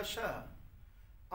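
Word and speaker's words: ਸ਼ਾਹ: समुंद शाह, ससा पैर बिंदी ला के उच्चारण करना शाह।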